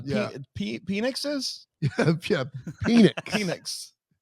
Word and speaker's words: Phoenix: Phoenix. H is silent. It's a silent H. It's Phoenix.